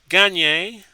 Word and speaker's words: Gagne: flyers win 36 30 at 37-36 when greg gagne gagne see there we go the pronunciation again he pins one of the miller